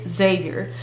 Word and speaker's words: Xavier: then I went to zavier University so I'm a Xavier University Alum and yes that's how you say it's not Xavier it's Xavier graduated from Xavier and